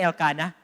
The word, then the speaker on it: Elkanah: Oh, that's bago man nga pronunciation. Dire Elkanah. It's Elkanah in 1 Samuel. Elkanah.